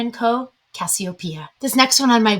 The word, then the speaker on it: Cassiopeia: And up until recently, I would have called this one Cassiopeia, but I believe that some coaching from some Greek friends in my life has me now pronouncing it Cassiopeia.